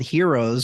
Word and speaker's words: Hearos: this brand name called heroes from the gods above and uh the unique thing about how I spelled Heroes was it's spelled h-e-a-r like I hear you o s and that